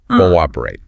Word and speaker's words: cooperate: Yes, the invisible W rule. It's pronounced cooperate, and it just means to work together with others toward a common goal.